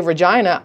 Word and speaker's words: Regina: So when I would say Regina, I thought I was being amusing. Now it sounds like I was being an ass, because that's actually how they say it, which is also really freaking cool that your city is named Regina. Like vagina, but Regina, but with an R.